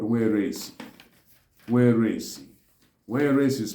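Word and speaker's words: warese: Pigeon in Igbo is called weresi. Weresi. Weresi is spelled as W-A-R-E-S-E.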